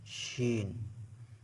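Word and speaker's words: شين: অনেক সহজ শি শিন জিহ্বার মাঝখান উপরের তালুর সঙ্গে এখান থেকে শিন এভাবে উচ্চারিত হয় এই অক্ষরটা যেহেতু অনেক সহজ সেজন্য এটা পত্র মাধ্যমে দেখানো হলো না শিন আমার সাথে সাথে বলুন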